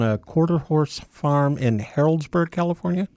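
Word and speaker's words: Healdsburg: grew up on a quarter horse farm in heroldsberg California Hillsburg Hillsburg yeah yeah Windsor kind of Santa Rosa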